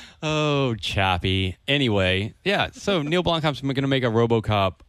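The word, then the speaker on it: Neill Blomkamp: And other Not Real Movie news, Neil Blomkamp.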